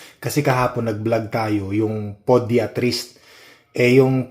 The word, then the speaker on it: podiatrist: That's the right pronunciation. Podiatrist. 'Yun ganun pala. Ako naman pediatrist.